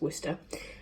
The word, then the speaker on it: Worcester: pronounce it whether we lose Worcester you know woofster sheesh our studies Worcester give it I live not far from there so it's true it's Worcester and I've got those I'm gonna make him